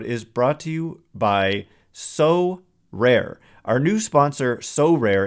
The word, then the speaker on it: Sorare: So Rare recently partnered with MLB All-Stars Juan Soto and Julio Rodriguez to serve as brand ambassadors.